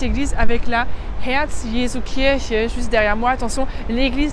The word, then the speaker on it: Kirche: Attention, l'église dit Kirche, c'est bien le hier qui se prononce un peu derrière et c'est pas Kirche. Ça, c'est la cerise et c'est le « che » qui se prononce plus devant.